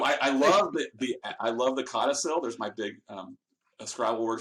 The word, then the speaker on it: codicil: So I love I love the codicil. There's my big Scrabble word for the day. It's a big 5-syllable word, or I guess it's just 3 syllables, but it's a big important word.